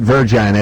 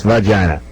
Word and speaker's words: vagina: And it's not virgina, it's vagina. Okay. All right. It's always trouble when they pronounce it virgina.